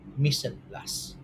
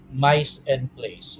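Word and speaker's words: mise en place: and the term is Miss and plus that's that's how it is pronounced it's not mice and place it is not that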